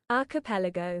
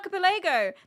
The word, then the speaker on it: archipelago: Wait, how do you say aripil? Oh god, this is new to me. Archipelago. Archipelago. I thought it was archipilago.